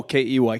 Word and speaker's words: Key: O K E Y Key.